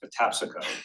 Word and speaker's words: Patapsco: someone for the video who knows it's pronounced Patapsco. I laugh because that is not how I think it's pronounced. That's how it's pronounced.